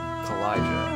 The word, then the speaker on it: Kaw-Liga: Kaw-Liga, that's how it's pronounced.